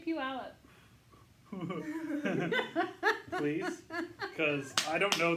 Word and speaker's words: Puyallup: She went to Pew somewhere this weekend and she couldn't pronounce it. So Joe had to tell her Puyallup, and I said, "You went to Puyallup?"